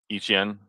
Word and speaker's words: Etienne: I think it's ETN uh Etienne. H A N Yeah, I I hate that their names are the spell are spelled differently, but pronounced the same between Travis E Etienne, H A N.